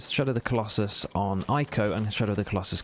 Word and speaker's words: Ico: Ico. Oh, it's spelled I-C-O. It's not A-I-K-O. I-C-O, it's spelled.